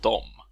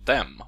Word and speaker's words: dem: Adam heter jag, och den här filmen kommer handla om orden di och dom, eller de och dem om ni föredrar det uttalet.